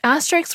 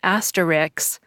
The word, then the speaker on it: asterisk: Greek word meaning little star in the past asterisks were used to show the omission of a